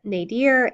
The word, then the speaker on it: nadir: The axis symbolizes at the center of the cosmos, partitioning the world into 6 directions: north, south, east, west, the nadir, and the zenith. And that's spelled N-A-D-I-R, and zenith, Z-E-N-I-T-H.